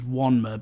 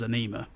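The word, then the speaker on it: Ænima: but I've gone with, now supposedly according to the band you pronounce it as Wanma, but most of the world says Anima.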